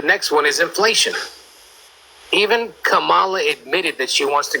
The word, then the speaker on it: Kamala: And by the way, it's Kamala Harris. Well, maybe I don't speak the same... I don't pronounce my words the way you do.